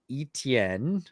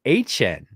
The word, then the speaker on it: Etienne: he came out and said it's actually, this is like 9 months after he was drafted, said, "Well, my family is Cajun, and we pronounce it HN."